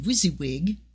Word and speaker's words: WYSIWYG: probably know because you're hipper than me uh pronounced wysiwyg is what you see is what you get